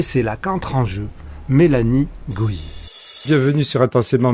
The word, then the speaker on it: Mélanie Gohier: Donc voilà, le décor était placé et c'est là qu'entre en jeu Mélanie Goyer. Bienvenue sur Intensément Mélanie Goyer, si c'est comme ça que ça se prononce.